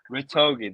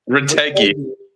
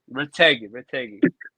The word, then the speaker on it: Retegui: Ritogi, there you go. Retegui. Retegui.